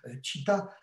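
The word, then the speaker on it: citta: âges hilton site à tchita c'est une partie de votre conscience et je dis toujours c'est le nom du sage de tarzan ça s'écrit pas pareil mais ça se prononce exactement pareil et sans doute par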